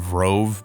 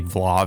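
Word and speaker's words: Vlov: I was saying Vrov, but apparently Vlav is the right way to pronounce it. And which I kind of figured, because sometimes in Japan they replace L's with R's, so they're calling him Vrov.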